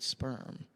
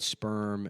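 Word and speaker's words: Spirm: Is it a real estate agent named Sperm, and Sperm is spelled S-P-I-R-M.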